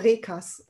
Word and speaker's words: Reekers: I have to do a German pronunciation, right? In German, you call it Reekers.